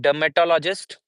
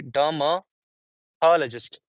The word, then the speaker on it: dermatologist: So there would be how many syllables? 1 2 3 4 5. Dermatologist. Talist. Okay. Sound is separate and just is separate. Tall is separate. M is separate and duh is separate. Dur tall. Dermatlogist.